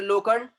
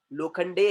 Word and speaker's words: लोखंडे: खोपड़, ई silent, mister लोखंड, ई silent, mister Gawad, ई silent. क्यों? क्योंकि अकेला ई है, इंग्लिश में साइलेंट होता है। वो बोले ए लोखंड नहीं मेरा नाम, लोखंडे है।